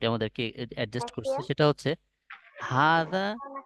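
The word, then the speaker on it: هذا: adjust করছে সেটা হচ্ছে হাদা ইজ প্রোনাউন্স হাদা এর উচ্চারণ হাদা এর উচ্চারণ হবে হাদা হাতে আমরা টান দিব আমি বলেছিলাম হাতে আমি এক আলিফ টান দিয়ে পড়বো হাদা বাট ইট is written without the fast আলিফ কিন্তু এখানে লিখতে গেলে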